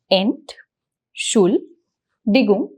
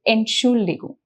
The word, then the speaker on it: Entschuldigung: Also, the word is pretty long, so let's break down the pronunciation of it. So we have Ent, that is the first syllable. We have Schul, which is the second syllable. And then we have Digung, which is the third syllable. So if you have a problem with pronunciation, you can just break down the syllables Ent, Schul, Digung, and then just repeat them faster, like Entschuldigung.